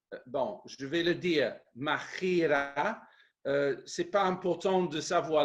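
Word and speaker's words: μάχαιρα: je vais le dire, machira. C'est pas important de savoir l'écrire, hein, mais pour les quelques-uns qui veulent savoir, M-A-C-H-A-I-R-A, mais c'est prononcé comme un peu à l'espagnol, hein, machira.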